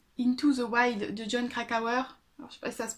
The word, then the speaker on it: Krakauer: into the way into the wild de jon krakauer ça se prononce comme ça éditions 10/18 qui est donc